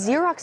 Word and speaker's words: Xerox: Alphabet Z as in X as in Xerox, but that's not helpful because Xerox is spelled with an X, but it makes the Z sound.